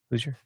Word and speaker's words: Hoosier: Hoosier? Hoosier.